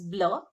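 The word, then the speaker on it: bleu: So the masculine form of color blue is blur. E is not there. And to make it in feminine form we add e. Okay. The spelling is changed here and pronunciation stays the same.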